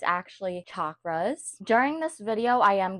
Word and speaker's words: chakras: So the way to pronounce them is chakras, like chair. I used to say chakras with an S, but it's actually chakras.